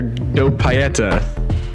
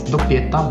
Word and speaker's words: Doppietta: Dragon Ball Z Budokai specialist, I'm gonna probably pronounce this wrong, Dr. Doppietta. Is that correct? Almost, it's Doppietta, but whatever, it's fine.